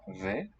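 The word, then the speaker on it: و: In fact, Persian too, Farsi, the word and is spelled the same as the Arabic wa, but it's pronounced ve.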